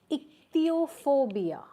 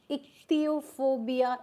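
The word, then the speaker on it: ichthyophobia: That's called as ichthopia. Iopobia is fear of fish. I c h y o and then phobia.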